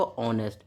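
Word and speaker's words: honest: जैसे एक और वर्ड होता है एन ऑनेस्ट, ऑनेस्ट, ऑनेस्ट, और इसमें क्या है, एच हमारा साइलेंट है, तो इसलिए क्या पढ़ेंगे हम इसको, ऑनेस्ट।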